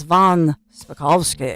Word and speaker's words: von Spakovsky: But it's Hans von Spakovsky. Oh, so you do know how to pronounce the last name?